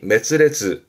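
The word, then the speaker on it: 滅裂: 그래서 발음이 메스레즈.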